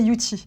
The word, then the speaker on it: Youthie: Et que du coup, ça se prononçait Yuti.